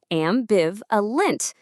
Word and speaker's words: ambivalent: Let's say it together. Ambiv a lint.